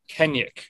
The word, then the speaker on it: Kennaugh: So, how do you pronounce the last name? Kennaugh. Kenyuk.